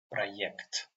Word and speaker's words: проект: So in this word we pronounce like ye. Проект.